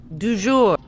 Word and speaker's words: du jour: How do you pronounce it Yeah. properly, Alex? For the record, because none of us know. Du jour.